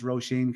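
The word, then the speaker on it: Róisín: and i bet you're impressed that i could pronounce roshein correctly stacy louise mclean bookmarks i was a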